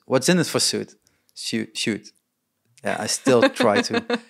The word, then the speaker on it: Zsüd: in it for suit shoot yeah i still try to pronounce it right it's perfect mine was it was suit but it's she there's a she in it somewhere yeah so um well